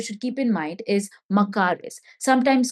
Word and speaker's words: makaris: Now, another interesting term that you should keep in mind is makaris. Sometimes called as makaris.